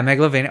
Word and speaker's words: Megalovania: Yeah, Megalovania.